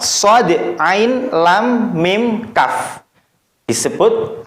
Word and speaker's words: Shad: Berikutnya shad. Maka shad juga sama, bukan so, bukan gitu bacanya, tapi harus dibaca seperti hurufnya dan dipanjangkan 3 alif. Shad.